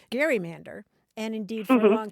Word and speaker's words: gerrymander: One of the ways that we know that it was pronounced as Gary-mander is because a few